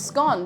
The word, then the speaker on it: scone: And it's scone because it rhymes with gone, because of if it's really nice, the scone will soon be gone.